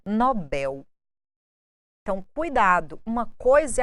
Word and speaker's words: Nobel: mais famosos mais assistidos prêmio Nobel vem do inglês com a tonicidade na primeira sílaba mas aportuguesado Nobel então cuidado uma coisa